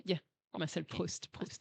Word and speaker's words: Proust: Proust, right? Yeah. Did I pronounce it right? Yeah. Marcel Okay. Proust.